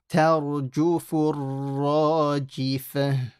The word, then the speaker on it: تَرْجُفُ الرَّاجِفَةُ: it has a shadda, you have to stop on this ra. Tarjufur rajifah. Tarjufur ra. See, because the ra has a shadda, I'm stopping on the ra for about 2 seconds. So listen again. Tarjufur ra. Okay, and the other thing to note is that ta has to remain empty mouth. Don't make this full. Don't say tarju, ta. And only the ra is heavy.